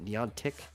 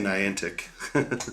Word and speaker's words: Niantic: Or is that how you pronounce it? Neon Tech? The Pokemon Go people. I always say Niantic.